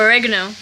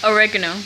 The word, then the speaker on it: oregano: herbs are you camera garnished honest Indiana camera pronounce it for you audience applaud camera girl oregano okay thank you she corrected she she she does capital for money one more time oregano a recognize okay you're now right now we